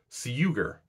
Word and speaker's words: sugar: This means that English sugar used to be pronounced something similar to suger. But you only have to say that a few times before you realize that's kind of hard to pronounce. So it underwent palization where the su became shu.